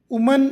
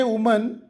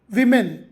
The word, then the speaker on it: women: ಮ್ಯಾನ್ ಪುರುಷ ಮೆನ್ ಪುರುಷರು ವುಮನ್ ಅಂದ್ರೆ ಮಹಿಳೆ ಇದರ ಬಹುವಚನ ವಿಮೆನ್ ಆಗ್ತದೆ ಮಹಿಳೆಯರು ಒಬ್ಬರಿದ್ರೆ ವುಮನ್ ಒಬ್ಬರಿಗಿಂತ ಜಾಸ್ತಿ ಇದ್ರೆ ವಿಮೆನ್ ಉಚ್ಚಾರ ಓಕೆ ವಿಮೆನ್ ವುಮೆನ್ ಅಲ್ಲ ವಿಮೆನ್ ಅದೇತರ ಪರ್ಸನ್ ವ್ಯಕ್ತಿ ಪೀಪಲ್